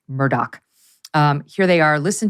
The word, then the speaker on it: Murdaugh: it's very confusing because it's spelled m-u-r-d-a-u-g-h but apparently it's pronounced Murdoch um here they are listen to the Cavalier nature of uh Murdoch in this sound bite 19.